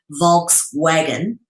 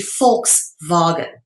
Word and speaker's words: Volkswagen: most people would say Volkswagen, but it's actually Volkswagen. All right, because the V is pronounced as an F in the Germanic and Dutch languages.